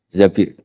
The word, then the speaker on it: Zabir: di di hadis ini bukan bacanya bukan Zubair tapi Zabir Abdurrahman bin zbir tapi orang